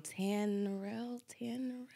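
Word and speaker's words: Tanerelle: I always pronounce it wrong. Tanrell.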